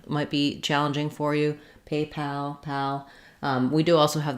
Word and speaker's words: PayPal: the pope people but in paypal we have a little length and a clear vowel on pal however you don't want paypal not secondary stress but first stress uh first syllable stress paypal so um okay and